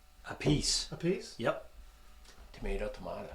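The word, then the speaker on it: Appice: how do you say his last name or apathy a piece a piece yep tomato tomato a chew a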